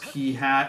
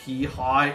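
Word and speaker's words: Peahat: twilight princess orana d3 uh mispronounced p-hat as p-high and uh since then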